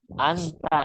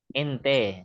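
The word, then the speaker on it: أنت: Ente. Nah, katanya orang Arab ente. Sebenarnya bacanya anta. Cuma orang-orang Arab itu orang Arab banyaknya bahasa Arab itu Ibu ya, Ibu bahasa Arab Amiyah. Anta jadi ente.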